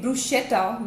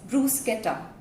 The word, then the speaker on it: bruschetta: The right pronunciation, I have often heard people calling it bruschetta, which is not right. The right pronunciation is bruschetta. It is bruschetta.